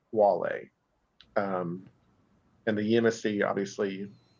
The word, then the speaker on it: Guale: introduce them the Wale it is spelled with a G but is pronounced Wale um and the emsc obviously looks normal but um they're not the gualee they're the Wale so always remember that